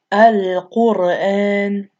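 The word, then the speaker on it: القرآن: So here's the Ra and it has original sukoon, and then before it is the Dhamma on this Qaf right here. So it's pronounced Al-Qur'an.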